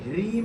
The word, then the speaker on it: ह्रीं: ओम, हाँ में रा लगा। क्या लगा है? तो इसको क्या बोलेंगे? ह्रीम बोले।